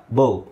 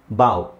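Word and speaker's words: bow: ಬೌ ಬೌ ಅಥವಾ ಬಾ ಬಾವು ಬೋ ಬೋ ಅಂದ್ರೆ ಬಿಲ್ಲು ಬಿಲ್ಲು ಬಿಲ್ಲು ಬಿಲ್ಲು ಬಾಣ ಅದಕ್ಕೆ ಬಿಲ್ಲಿಗೆ ಬೋ ಅಂತ ಹೇಳ್ತಾರೆ ಬಾವ್ ಬಾವ್ ಅಂದ್ರೆ ತಲೆಬಾಗೋದು ಅಕ್ಷರ ಒಂದೇ ಇದೆ ಉಚ್ಚಾರಣೆ ಬೇರೆ ಇದೆ ಮೀನಿಂಗ್ ಬೇರೆ ಇದೆ ಅದಕ್ಕೆ ಹೋಮೋಗ್ರಾಫ್ ಹೋಮೋ ಅಂದ್ರೆ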